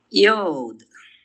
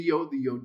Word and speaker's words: yod: Yod. Yod, which is the Y sound.